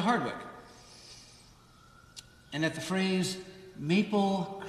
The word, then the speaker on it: Hardwick: two syllables and that heading up to hadwick way just meant that you were going to Hardwick and at the phrase